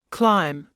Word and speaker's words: climb: in phone photo autograph be is silent at the end of a few words listen and repeat climb comb thumb lamb as